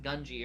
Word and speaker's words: Gungi: Apparently it's pronounced Gungi according to Yeah.